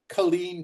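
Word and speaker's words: Culzean: So that brings us to the next stop, Colleen Castle. There's a Z in there. It's not pronounced.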